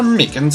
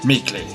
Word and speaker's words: Meekins: for it actually officer meekins at the detention center told us oh that poor little doggy poor guy i keep getting his name wrong and call him meekly he told us something